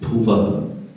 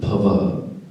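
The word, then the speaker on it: भुवः: Generally, people mistake, especially on this, Bhur Bhuvaha. It is Bhuvaha, not Bhavaha.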